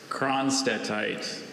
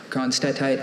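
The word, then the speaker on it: cronstedtite: Kronstadtite. Kronstadtite, can I have all the information, please? Kronstadtite is a mineral consisting of a black hydrous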